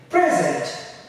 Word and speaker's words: present: be another if it's if it's acting as a noun then we are going to stretch the first scene we say present this is a present